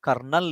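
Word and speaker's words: colonel: right answer for that kernel even though uh that pronounces differently the right spelling for kernel is c o l o n e l that is to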